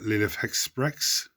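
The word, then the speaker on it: Lilith Hesperax: We have Lilith Hexprex. Mark corrected me on how to pronounce her name today.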